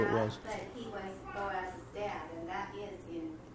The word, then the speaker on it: Boaz: I think I found it, Matthew 1:5, and salmon begat, well, they spell it booze, but I think it's supposed to be Boaz.